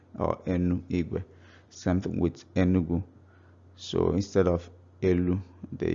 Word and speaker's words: Enugu: So Enu Ugu is pronounced Enugu.